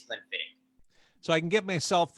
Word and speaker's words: Glenfiddich: scott's gaelic so i i know it will towards anyone who mispronounces it but you got it absolutely correct it is clean fitting so i can get